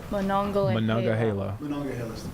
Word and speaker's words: Monongahela: Moments ago, did we get a pronunciation? Monongahela. Monongahela.